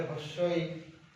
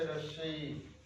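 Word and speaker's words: হ্রস্ব ই: এরপরের যে অক্ষর রস্বই, এই রস্বই বিভিন্ন জায়গায় উচ্চারণ আলাদা। যেমন কেউ বলে হস্যই, বা হয়তো অন্যভাবে বলে, কিন্তু এটা হস্যই না, এটা হচ্ছে রস্বই।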